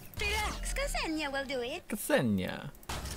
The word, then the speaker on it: Ksenia: Ksenia. I thought they didn't pronounce those. Like, shouldn't it be Senya? Like, silent K?